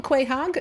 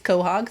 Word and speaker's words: quahog: Oh, and a quahog. So that is a juvenile quahog. Yep. Or you could, I used to call them a quahog. That's not the way you say it. Apparently it's quahog. Thank y'all for correcting my pronunciation.